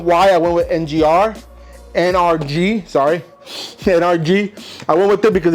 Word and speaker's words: NRG: figured I'd go with the whole kit with ngrr or NRG sorry I keep I keep messing up the the pronunciation so this is the Hub right here